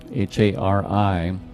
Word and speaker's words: Hari: supporter of all life Hari h-a-r-i that rolled R you can say Hari if you'd like Hari is the power